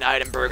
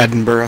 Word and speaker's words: Edinburgh: Edinburgh. Right, not... like yeah, Burr. There you go. Sounds so weird. I want to say the GH, Berg.